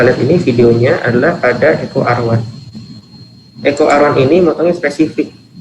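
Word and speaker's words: EcoRI: Jadi nama bacanya ECO R1.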